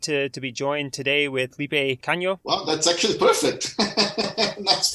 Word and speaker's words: Felipe Cagno: And we are excited to be joined today with Felipe Cagno. Wow, that's actually perfect. Nice pronunciation.